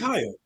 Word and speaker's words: Kyia: It's Kyia. It's just Kyia.